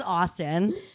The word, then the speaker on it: Astn: His name is Austin, but it is spelled ASTN.